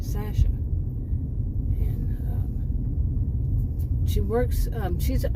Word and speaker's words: Sasha: Now, she pronounces her name Sasha, and she works.